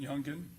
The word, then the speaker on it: Youngin: Now the rap video "Do It" that was done by Youngin Ace, is that how he pronounces it, Youngin?